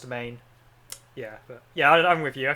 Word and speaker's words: demesne: manses yeah oh demesne but it's pronounced domain yeah yeah I'm with